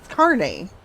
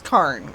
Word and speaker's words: carne: It's carne. He just says carn. Okay, that's fine. I'm I'm pronouncing it the way I learned it.